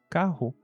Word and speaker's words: carro: Então, a palavra que antes tinham dois Rs e se pronunciava carro, agora com um R só. E como ela fica entre a letra A e O, ela vira caro.